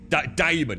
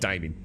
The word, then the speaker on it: Damon: Damon, not Damien.